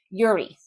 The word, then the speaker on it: Yuri: put I think in in Russian you pronounce the second syllable of a name. So Yuri, but we we English speakers and a lot of the world would say Yuri.